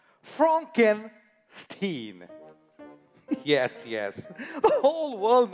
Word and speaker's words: Frankenstein: That's Frankenstein. My name. It's pronounced Frankenstein.